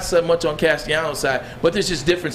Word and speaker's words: Castellanos: Castellanos. Okay, Castellanos.